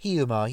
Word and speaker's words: Hiiumaa: I mean, basically, even on Hiiumaa, I can't say this island. Hiiumaa, you got it right.